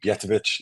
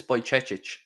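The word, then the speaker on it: Bajčetić: I love, how do we pronounce it? Bjetovic, who got injured at the end of last season. I loved what he was doing when he was. I think it's Bajcetic. Bajcetic.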